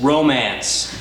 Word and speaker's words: romance: He's the one responsible for bringing the very French word romance to Maine, pronounced by the French, less romance.